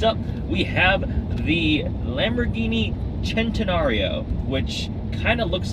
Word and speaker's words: Centenario: we have the Lamborghini centenario which kind of looks like centenario Centeno it just it looks like centenario but leave it to the Italians for one see a pronounced like a CH it is a supposed